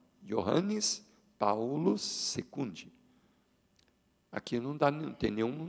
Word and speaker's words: Johannes Paulus: E você já viu ali que, porque em latim, pronuncia-se assim, ó, Johannes Paulus II.